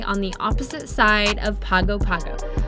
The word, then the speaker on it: Pago Pago: Today we have spotted a bay on the opposite side of Pago Pago, which we actually found out is pronounced Pango Pango.